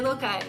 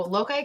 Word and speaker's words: loci: If we pronounced it the way maybe scholars might want us to pronounce it, it would be loci, but we all agreed that sounded a little bit pretentious.